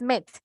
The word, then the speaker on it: met: Cuando son dos E, Okay. sí es meat. Como si es igual la pronunciación de meat cuando decimos carne también, pero cuando solo hay una vocal E, ahí sí es met, ¿verdad?